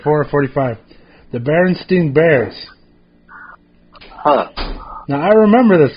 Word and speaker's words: Berenstain: saying right here that it's never been the berenstein bear that's spelled with an a berenstain yeah that's crazy now